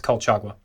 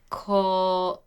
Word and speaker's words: Colchagua: I think it's Colchagua. No, they don't pronounce the G. It's like a hua. So, Kohawa?